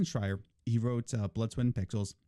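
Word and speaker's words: Schreier: the way one thing why does everybody get Jason fryers name wrong they say shreyer Shrek or whatever it destroy her I don't understand Jason Schreyer he wrote blood sweatin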